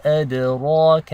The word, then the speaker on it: أَدْرَاكَ: The dal is one of the letters of qalqala. This means there is an echo when you have a sukun on top. So it's ad, ad.